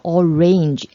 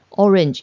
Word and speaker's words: orange: 那大家发 orange 的时候注意一些有人可能会把它发成 orange，这里的 A 呢它不读成 A 的音，它发的是 I 或者是 schwa 的音， orange 或者是 orange orange orange orange，不要发成 orange 就可以了。怪异的橙色烟雾